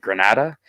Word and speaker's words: Granada: It is in Granada, or Grenada, but Granada, I think it's pronounced, Yeah.